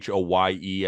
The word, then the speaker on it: Hoye: Dude, like James Hoy, I think he was game one. What is it? James Hoy? I know it's Hoye. I think that's how you pronounce his last name.